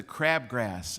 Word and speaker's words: crabgrass: Siblings, Charles Schulz once wrote, siblings are the crabgrass in the lawn of life. Emphasis on the first syllable, crab.